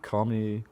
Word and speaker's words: Khamenei: Khamenei.